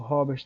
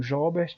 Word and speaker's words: Jobert: O Robert também. Perdão, Jobert.